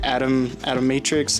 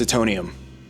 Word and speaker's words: Atomium: Tomorrow we look at the atom matrix. I gotta come from the future now and save my ass. It's Atomium.